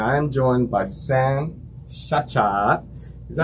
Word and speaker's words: Ciaccia: of the century so technically yes it's Chacha in Italian but I was misled